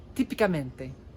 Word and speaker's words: típicamente: Listen for the syllable and the vowel within the syllable that has the most emphasis. That's where the accent is.